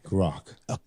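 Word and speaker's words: Grok: Spell that again. I'm sorry. The horse. G R O K. Groc.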